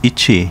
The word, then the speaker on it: Ike: Ike, pronounced Ichi in Uchinaguchi.